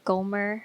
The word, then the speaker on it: Gomer: don't know his wife gomer right that's how you pronounce it yeah it's like homer but with the g golfer she was the